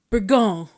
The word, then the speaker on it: Bourgogne: And I showed it to him, and he said, Bourgogne, like that.